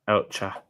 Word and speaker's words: Elche: It's the same shop as well in Valencia and in Elche. How do you say that? Is it Elche? Elche.